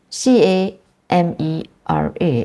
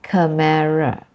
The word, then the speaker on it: camera: to a different position for example c a m e r a is camera I have heard Malaysian say Camara so instead of camera